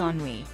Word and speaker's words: Ennui: It's Ennui.